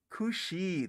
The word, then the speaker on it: Ku Sidhe: Is how do you pronounce that? Kushi.